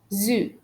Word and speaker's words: sud: For example, the exceptions are ouest, which means west. Sud, sud, which means south. Ouest, sud, est, which means exceptions means under these exceptions we pronounce the letters D and T. But most of the time when the two letters D and T are at the end of singular nouns, we don't pronounce it. But these three words are some exceptions.